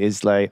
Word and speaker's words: Islay: And is the, you know, the peat is obviously a big thing in what I mispronounce for most of my life, but is actually called, I'm going to say Islay.